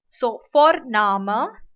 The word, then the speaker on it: Vorname: V is pronounced as fa. So Vorname, and surname or the last name is known as Nachname.